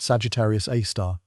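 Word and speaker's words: Sagittarius A*: The supermassive black hole at the heart of our galaxy is called Sagittarius A, pronounced Sagittarius A star.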